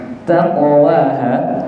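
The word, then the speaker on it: تقواها: Nah, taqwaha qaf niku makhrajipun pundi? Qaf niku makhrajnya, jalan keluarnya, cara membacanya niku pangkal lidah.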